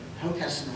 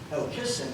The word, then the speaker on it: Hockessin: I think in the same way that you would say Hockessin and not Hockessin, Hockessin used to be pronounced with the accent on the second syllable.